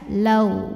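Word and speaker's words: لَوْ: Maka kita bacanya cukup lembut saja, lau. Bibir kita ngumpul seperti mau mengucapkan huruf waw seperti biasa ya. Kalau bahasa Indonesianya L-A-W ya, lau.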